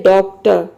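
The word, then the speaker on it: doctor: इसमें आप आर को साइलेंट भी रख सकते हैं, क्योंकि जब आप प्रोनाउंस करते हैं तो आर का साउंड अपने आप निकलता है। आप ये भी बोल सकते हैं डॉक्टर, डॉक्टर। तो डॉक्टर मीन्स होता है डॉक्टर। या फिर जब आर को प्रोनाउंस कर रहे हैं तो आर को आपको आधा र के साउंड में प्रोनाउंस करना है, पूरा र के साउंड में नहीं प्रोनाउंस करना है।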